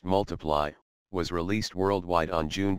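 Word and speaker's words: ×: UK second studio album X pronounced multiply was released worldwide on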